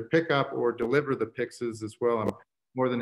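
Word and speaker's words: pyx: a pix uh so this is a pix it's spelled p y x uh and you'll notice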